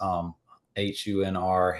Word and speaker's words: Hunter: like really active is HUNR, Hunr. It's just because people don't pronounce the T and the E in my name because my name's actually Hunter. So Hunr.